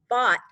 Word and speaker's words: bought: bought cookies for dessert why do you think bot is a red word cole you can't hear the gh yeah it's kind of